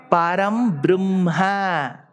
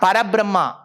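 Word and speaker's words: परब्रह्म: Gurur Brahma, Gurur Brahma, Gurur Vishnu, Gurur Devo, Maheshwaraha, Guruhu Sakshat, Param Brahma. Not Brahma again. Not Parabrahma.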